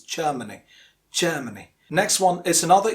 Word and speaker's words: Germany: least say Germany, but it's not Germany because the R is silent, because it is followed by a consonant sound after R. Next, after R there is a consonant, so it is Germany.